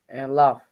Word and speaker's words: laugh: laugh, Laugh, right? Okay, like ha ha ha, laugh.